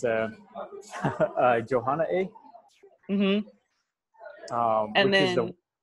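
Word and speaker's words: Jóhonaaʼéí: It was Jahona-e. Yeah, I hope I don't butcher this word, but it's Johanna A.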